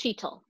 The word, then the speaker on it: Sheetal: my name is just my name is pronounced sheetl sheeto i'm sorry yeah